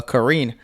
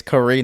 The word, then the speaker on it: Karen: in a rematch uh Karen you know we were Mis mispronouncing his name last week I apologize now we know okay it's Karine not Karen but Karen I still